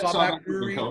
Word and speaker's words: Sawback Brewery Co.: Co. is the proper way to say it, right, Scott? Yeah, Sawback Brewery Co.